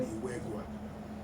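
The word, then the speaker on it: Iweguae: In there, you have, it's called Iwegwa. Iwegwa is spelled I-W-E-G-U-A-E.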